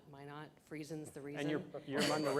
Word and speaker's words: Minot: you've been to Minot they say why not my not freeze ins the reason